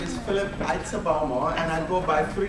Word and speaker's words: Aitsebaomo: And one of them, if you really are ethnic and you know how to say it, is Aitsebaomo. Aitsebaomo.